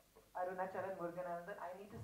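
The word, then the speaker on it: Arunachalam Muruganantham: point of view, and you've made him portray Arunachalam Muruganan. Have I said it right? Arunachalam Muruganan. Arunachalam Muruganandan.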